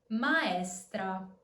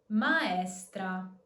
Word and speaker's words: maestra: Maestra. Maestra. As you can see, we have two strong vowels, A and E, so we are simply pronouncing the both of them.